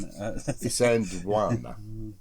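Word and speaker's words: Isandlwana: Isandwana.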